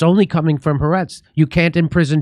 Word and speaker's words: Haaretz: And it's pronounced Haaretz.